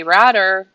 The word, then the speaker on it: Ratter: Hello to Mike, Ken Lavoie, Dave Ottaway is watching, Frank Eichhorn, Ratter, rhymes with ladder.